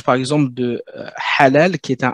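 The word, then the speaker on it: حلال: Et là, vraiment, le ha, ce que je dis souvent, ça ressemble en termes de prononciation, à du papier de verre qui frotte du bois. Ça fait un... C'est beaucoup plus expiré, alors que celui-ci, il est aspiré.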